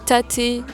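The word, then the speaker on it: Tatte: un café qui s'appelle alors il le prononce taté ici t je sais pas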